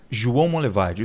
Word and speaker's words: João Monlevade: o rio não em Minas Gerais como chama João Monlevade duvido você conseguir pronunciar corretamente João Monlevade João Monlevade isso vamos